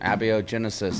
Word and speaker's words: Abiogenesis: had to correct me on how did you pronounce it again a bo genesis that coming into existence bo Genesis are coming